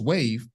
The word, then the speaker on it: WAV: can uh rise together known as wav or wave pronounced wave Wellington access Ventures is